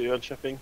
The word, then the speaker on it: Jönköping: By the way, you guys owe me 1 beer when I go to Jönköping for not bitching about rolling on the road, right?